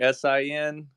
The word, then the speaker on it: Senn: It's pronounced Sin, so almost like Sin, but it's spelled Senn.